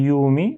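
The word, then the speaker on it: يَوْمِ: Euh ce deuxième mot, au lieu de dire yaumi, on dit yaumi. Donc il faut bien articuler les actions ici. Ya et mi.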